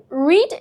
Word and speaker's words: read: এখানে রড এর উচ্চারণ হবে রেড।